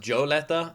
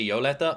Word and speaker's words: Yolenta: I know people say it's pronounced Joe letter, and they don't like when I say yo letter, but it's been pronounced different ways in the anime.